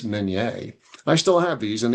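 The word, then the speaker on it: Minié: And um I managed to dig up these three mini balls or I'm told now it's pronounced minet balls because these uh projectiles were named after an inventor from France named Met.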